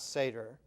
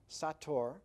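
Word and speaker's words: sator: At the top it read s a t o r and on the side it read the same way s a t o r not seder satur which um if you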